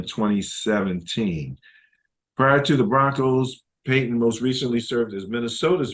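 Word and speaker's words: Paton: he is a 26-year personal executive um following his first season with the team Mr is they pronounced his name Peyton I'll say it correctly now um was awarded the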